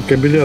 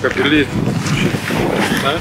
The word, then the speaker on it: кабели: И кабеля другие, это не то. Кабеля. Кабели. Что это там про кабели? Кабели правильно говорить, чтобы не получались кабеля.